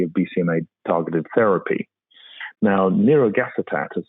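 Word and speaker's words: nirogacestat: limit the efficacy of bcma targeted therapy now neurogas attack as it's called uh or near unfor short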